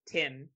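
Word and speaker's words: T.I.M.: So this is T period M, T 1 M, but Tim is how it's said.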